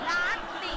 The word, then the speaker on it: latte: อ่านอีกทีลาเต้อ่านอีกทีลาเต้เขาอ่านว่าลาติ Ah, latte. ลาติ Okay, I didn't know this.